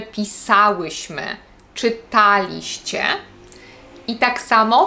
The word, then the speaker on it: pisałyśmy: i trudno to zidentyfikować akcent na trzeciej sylabie od końca Pamiętajcie też żeby stawiać w takich przypadkach kiedy macie czas przeszły w osobach My i Wy nie mówimy pisałyśmy mówimy pisałyśmy Czytaliście i tak samo